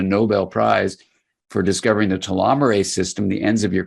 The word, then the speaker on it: telomerase: to optimize your telomerase the enzyme telomere Ace telomerase is how you say it the repairs and maintains